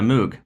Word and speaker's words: Moog: mini and it's uh it's Moog m o yeah right pronounced differently so it's different so yeah